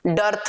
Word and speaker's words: dearth: मिग डर्थ, DEARTH, डर्थ. अब डर्थ और डेथ की स्पेलिंग में देखो, DEATH, ये तो होता है डेथ.